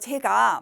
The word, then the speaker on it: 제: 용도가 굉장히 많은 거죠 이번에는 제 이거는 이제 입꼬리를 옆으로 당긴다는 기분으로 발음을 하셔야 돼요 일상적으로 잘 구별이 잘 안되지요 소리를 듣고 그러나 앞에 재는 턱을 밑으로 내린다는 생각으로 제 그리고 지금 어이는 옆으로 늘린다고 생각하고 제 이렇게 발음을 하시면 됩니다 자 우선 고유어재를 보면